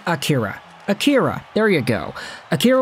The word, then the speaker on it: Akira: Don't be pronouncing the names like he's Japanese. Let's just say Akira.